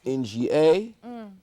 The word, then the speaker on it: Inga: we have inga right inga's pronounced nga right right also i n g a right right that's inga